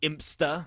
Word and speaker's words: Impsta: here as we do see Impsta, as I'm being told is the correct pronunciation of his name.